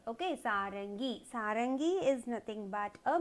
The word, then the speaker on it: सारंगी: Sa-ra-ing-gi. And the dot you have to pronounce it as ing. Okay. Sarangi.